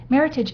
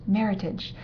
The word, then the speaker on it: Meritage: other from the old world bordo's muton C Meritage is the North American term for Bordeaux blend involving grapes such as Cabernet sool Cabernet Fran Mero Malbec and petite fdau and yes it is pronounced Meritage not the more sophisticated but completely wrong version